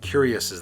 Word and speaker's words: cuirass: High elves have these beautiful fish scale cloaks, these like cuirasses that way. Cuirass, I believe how you pronounce it.